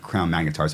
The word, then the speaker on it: Crown Magnetar: I thought I came between Crown Magneto and Crown magnetars I just shoved the Sham shot you know